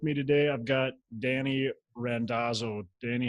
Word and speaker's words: Randazzo: I asked you before, and now I feel like I just mispronounced it. You got it. You got it correct. It's Randazzo. Randazzo.